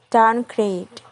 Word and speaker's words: downgrade: The primary stress is on the second word and the secondary stress on the first word, like in the word downgrade. The primary stress is in the word grade and the secondary stress in the word downgrade.